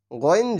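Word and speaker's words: غ: জের ই আইন পেশ উ তাহলে আই উইন গইন হচ্ছে গলার শেষ প্রান্ত অর্থাৎ আমাদের জিহুব্বা যেখানে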